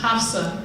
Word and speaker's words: Absa: So in Arabic, it's pronounced Hafsa, but my dad thought Absa sounded cooler, and I like it.